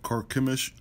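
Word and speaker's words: Carchemish: later to carp carp it's actually pronounced commish karkemish and there they defeated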